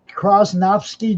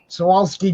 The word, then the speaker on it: Swarovski: What are the Krosnovsky jewels? I never say it right, but Swarovski jewels.